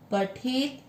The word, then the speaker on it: पठेत: पठेत, त के नीचे हलंत यानी त आधा है, पठेत व पूरा शिव